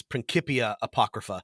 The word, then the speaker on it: Principia Apocrypha: be annoying about it I believe the way that a a Latin dork would tell you to pronounce this prinkipia Apocrypha however we don't actually know how they spoke Latin we can just sort of presume so say it however you want is my answer okay